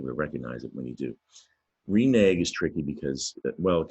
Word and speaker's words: renege: Now that silent E should make that last syllable renege, make it a soft G sound at the end there, but you hear a hard G, renege.